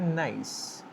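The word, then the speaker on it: gneiss: जिसकी स्पेलिंग है जी एन ई I double S लेकिन हम प्रोनाउंस करते हैं नाइस।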